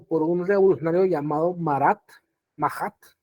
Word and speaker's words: Marat: un revolucionario llamado marath mahat se pronuncia mahat pero se escribe así como marat y mahat era la